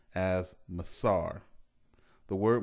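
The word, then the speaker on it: מעשר: its meaning from the Hebrew word which is pronounced as Messara the word masoor is translated as tithe throughout the entire Bible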